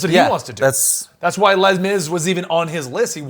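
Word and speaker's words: Les Mis: Yael suggests that's why Les Miz was even on his listen yeah just singing it you don't have to pronounce the S that's a lame is I don't say lame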